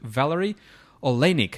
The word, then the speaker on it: Valary Oleinik: So I'm pretty excited about this interview with Valary Oleinik. Am I pronouncing that right, Valary?